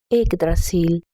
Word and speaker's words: Yggdrasil: Yggdrasil.